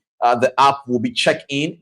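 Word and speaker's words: Cheqin: Uh the app will be checkin. The checkin is spelled C H EQ- I N.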